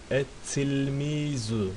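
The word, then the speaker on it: التلميذ: okunuşta bir fark var Şemsi olduğu zaman et tilmiz Ne oldu lam okunmadı değil mi et tilmiz lam atlandı Oysa kameri olduğu zaman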